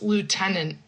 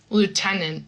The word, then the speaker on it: lieutenant: This is an important thing to note, that also with pronunciation of the final NT in English, it's lieutenant. And I don't really say lieutenant, but I stop abruptly so that people can kind of know that there's a T there.